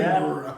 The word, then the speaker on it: Edinburgh: This is how they say it. Edinburgh.